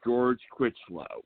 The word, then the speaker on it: George Chritchlow: The guest that we have tonight, and I hope I pronounced your name right, sir, is George Chritchlow.